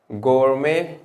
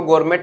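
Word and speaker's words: gourmet: even अगर हम कहे गोरमे इसको गोरमेट नहीं पढ़ते हैं गोर मेंे टी साइलेंट होता है गोरमे या गोर मांड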